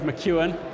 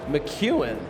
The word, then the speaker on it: McKeown: to be joined by Greg McKeown who's named pronunciation I did not qualify with him before I just said it it's Greg McEwan McEwan yeah thank you I've already learned something and